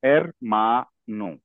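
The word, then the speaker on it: hermano: word को सुनोगे तो इसका इसका जो करेक्ट प्रोनंसिएशन है वो है एरमा नो एरमा पे ज्यादा स्ट्रेस है मा पे स्ट्रेस है करेक्ट अगर कोई इसको ऐसे बोलेगा एरमानो ये गलत है अगर कोई इसको ऐसे बोलेगा एरमानो ये भी गलत है इसका जो करेक्ट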